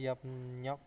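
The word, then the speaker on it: 협력: di sini ada eh yomnyok yomnyok ya Ini bacanya itu adalah yomnyok tulisannya hop rok tapi dibacanya akhirnya apa menjadi eh yom yomnyok yomnyop itu kerja sama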